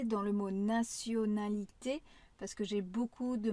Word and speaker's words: nationalité: Alors que en français, c'est bien un son comme un s. Naonalité. D'ailleurs, c'est comme le mot la nation. Nation nationalité.